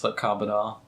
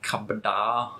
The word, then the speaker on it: Carbidar: They just say it wrong, like kabada. Oof. It's like car. That's not a car, and then bad, and then like as if you've been surprised. Like, Wow.